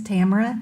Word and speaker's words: Tamara: My name is Tamara. Tamara rhymes with camera.